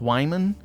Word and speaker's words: Wyman: was before the first game and apparently it's pronounced wyman which does make it less confusing but also